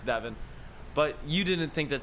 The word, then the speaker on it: Devon: You did not think they were taking Devon Witherspoon or Devin Witherspoon. I have to figure out how to pronounce that correctly, but I'm pretty sure it's Devin.